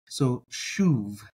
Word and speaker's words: שׁוב: that um that is spelled Shane valve or vowel bait soov and if you're watching